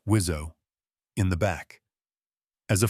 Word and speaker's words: WSO: You have a pilot in the front and a weapon systems officer, or WSO, pronounced Wizzo, in the back.